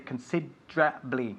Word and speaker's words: considerably: So the E, la E en medio, consider, is lost. We just say considerably, okay? Say it. Considerably. Eso es, considerably. Considerably. And we emphasize, just like Nieves is doing, the second syllable, considerably.